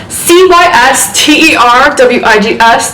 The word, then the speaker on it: CysterWigs: it's a triple dubs c-y-s-t-e-r-w-i-g-s dot com also known as cysterwigs that's how we like to pronounce that around these parts um so